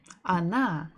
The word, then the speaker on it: она: So the word she, она, the stress falls on the last syllable. So the first letter O, is not stressed. So we must read it or pronounce it as A.